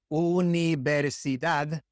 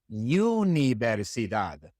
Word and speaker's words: universidad: It is universidad and not universidad.